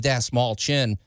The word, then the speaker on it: Dastmalchian: All right, you guys, we got our buddy Dave Dastmalchian on the phone. I always mispronounce his name. Dave Dastmalchian.